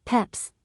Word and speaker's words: Pepys: There have been numerous ways of pronouncing the name, as Peps, Pepys, and Pepys. The diarist undoubtedly pronounced it Pepys, and the lineal descendants of his sister Paulina, the family of Pepys-Cockerell, pronounce it so to this day.